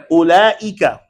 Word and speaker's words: أولئك: Ulaika. Now understand that the wow la taqra. The wow in ulaika, it is written. Please don't read that.